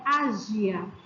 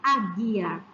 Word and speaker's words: águia: Se não tivesse U, ficaria ágia. E vocês poderiam dizer, tia, mas se eu não escuto o som, por que eu preciso do U aí então? Eu preciso para formar o som correto, embora este som não apareça. Se eu não tivesse U aqui, ficaria ágia. Mas como eu tenho U, eu leio águia.